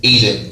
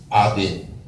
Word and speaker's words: Eden: our original state, okay, was Eden, very more properly pronounced Aden.